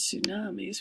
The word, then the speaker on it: tsunami: he talks about hurricane so here's tsunamis we don't pronounce that T and then here's hurricanes